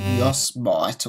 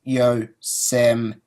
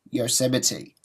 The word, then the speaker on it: Yosemite: OS X Yosemite, and that's actually the first time I've learned to pronounce Yosemite. I said Yosemite or something like that before, because I had